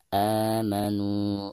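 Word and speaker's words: آمَنُوا: Baik, ketika kita membaca a di sini dipanjangkan 2 harokat karena dihukumi mad badal ya. Amanu.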